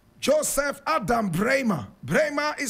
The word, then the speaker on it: Braimah: Joseph Adam brma brma is spelled b r a i m a h some people say brma correct pronunciation Brer Joseph Adam Brer was born my brother my